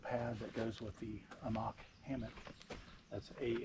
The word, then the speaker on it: Amok: This is the Amach extra-L large inflatable pad that goes with the Amach hammock.